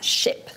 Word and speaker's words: ship: nous on aurait moi j'aurais tendance en tant que francophone à dire chip mais non du coup il faut comment il faut placer sa bouche sa langue comment on prononce bien cherché exactement c'est vraiment presque un peu dans la gorge des chiffres à l'appui en baisse un peu comme ça shipp c'est très bien pu voir la différence avec le chip un